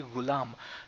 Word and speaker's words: ghulam: this such as the ghulam the gulaam you can call it gulam if the is not is getting tricky for you it's it's actually ghulam but you can call